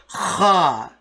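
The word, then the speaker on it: خ: Okay, and the next one is Kha. as if you are about to roar, as if a lion is roaring.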